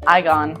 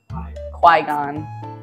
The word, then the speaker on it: Qui-Gon: I don't know how to say his name igon igon Qui-Gon thank you cameraman knows all this stuff